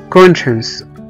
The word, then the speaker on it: conscience: وزي كمان كلمة conscience، conscience او ضمير، conscience، c o n s c i e n c e. هنا هنلاقي في نص الكلمة على طول السي اي اي، قرأناهم كأنهم حرف الشين، conscience، conscience، conscience يعني ضمير.